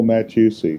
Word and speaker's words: Mattiussi: Oh Matt you see it's a ma you and you you pronounce that T is a hard T and then you get the I in there back to you so